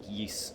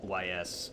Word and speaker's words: Ys: played yeast 8 yes it's pronounced yeese or Yeast or whatever not Ys but either way the